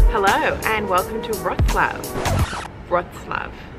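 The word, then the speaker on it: Wrocław: Wroclaw. Look, it's hard to pronounce. All I know is that it's not Wroclaw, which is how it's spelled.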